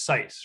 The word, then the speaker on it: Xyce: started working on scice you say it's sites right yeah it's a z sound at the beginning so we started working on Zeiss he's actually like a